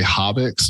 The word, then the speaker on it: Hobix: Hobix. Hobix. Okay. That's what I thought. In my head, I thought I heard you say Hobix, and I was like, wait a second.